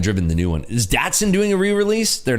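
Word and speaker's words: Datsun: doing it right there never heard it pronounced datson is it what people call it datson it's datson I don't call it doson I call it datson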